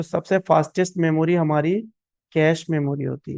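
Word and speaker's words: cache: Next memory है हमारी कैश memory. कैश भी पढ़ते हैं बहुत से लोग इसे। कैशे भी पढ़ते हैं और इसका सही प्रोनाउंसिएशन है कैश मेमोरी।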